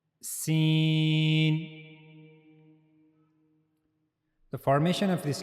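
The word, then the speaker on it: س: So for pronouncing scene you have to use the tip of the tongue near the inner plates of the upper central incizes.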